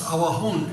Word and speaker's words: Awajún: de la selva alta, y han cambiado la pronunciación, o sea, para que esté de acuerdo con su pronunciación, es Awajún, y entonces todos aceptan esto como su nombre étnico.